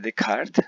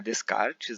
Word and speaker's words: Descartes: Aliás, a pronúncia é Descartes, não é Descartes, né?